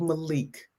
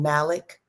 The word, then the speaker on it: Malik: this the spelling of Malik. M a l i u e. So it wouldn't say it wrong. Oh, it was saying malik. Oh, Malik.